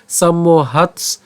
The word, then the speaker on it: সম্মোহ: এরপর ভবতি সম্মোহ, আমরা কি করেছি? প্রথমে একটা ম উচ্চারণ করলাম এবং বাকি অংশটুকু থাকে মোহ, আমরা মোহ উচ্চারণ করছি। তাহলে কিভাবে আমরা উচ্চারণটা করলাম? সম্মোহ, দন্তস্ব ম পর্যন্ত উচ্চারণ করলাম সম, এরপর হচ্ছে মোহ। ঠিক আছে, সম্মোহ। এরপর একই রকম ভাবে সম্মোহাত, সম্মোহাত।